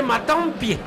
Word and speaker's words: Matampi: lac donc en fait son nom serait matampi parce que c'est c'est comme ça se prononce dans les rayons d'où vient le nom face à une passe